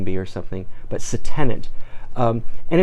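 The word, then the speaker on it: se-tenant: need to talk about a philatelic term called say tenant it's spelled s e space te n a n T you know I feel like I'm at the spelling bee or something but so tenant and it's a collection of stamps that are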